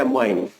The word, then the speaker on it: ammine: एमीन, एमीन नहीं एमीन, जिसको English में प्रोनाउंस करते हैं लिखते हैं AMMINE और प्रोनाउंस करते हैं एमाइन।